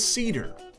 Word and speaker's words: CeDUR: Up next is CeDUR. That's Cedar spelled with a U.